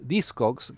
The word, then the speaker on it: Discogs: Discogs, che si pronuncia Discogs, è un portale all'interno